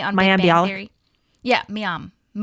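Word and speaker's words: Mayim: Yeah, Miam. I've heard her say Mayam Bialik.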